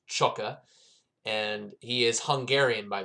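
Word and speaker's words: Csóka: the outside back role so okay so it's chukka uh i got confirmation from the commentator uh his his last name is pronounced chukka and he is hungarian by the way so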